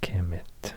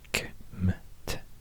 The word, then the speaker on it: Kemet: The name for the country Egypt in Egyptian is actually Kemet, or Kmet, and some E vowels in between just to make it easier to pronounce. So Kmet, Kemet.